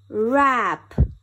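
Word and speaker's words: wrap: do it again er wrench w-r-e-n-c-h wrench wrench rap w-r-a-p rap er rap er rest w-r-i-s-t rest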